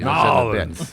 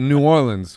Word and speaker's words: New Orleans: New Orleans is how you say it. That's how you say it. But a New Orleanian will say New Orleans. Yeah. It's like a dip, New Orleans.